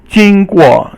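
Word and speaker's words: 经过: 经过 is first tone and then fourth tone, and it basically means process or course.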